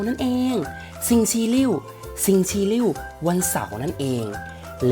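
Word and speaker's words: 星期六: อ้าว แล้ว ต่อ ไป วัน หยุด แล้ว ครับ ซิง ชี ลิ่ว ซิง ชี ลิ่ว วัน เสาร์ นั่น เอง ซึ่ง และ นิ้ว ซิง ชี ลิ่ว วัน เสาร์ นั่น เอง และ วัน สุด ท้าย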